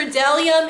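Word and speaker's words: bdellium: is silent the b the b is for dellium is silent let's see n is for not there's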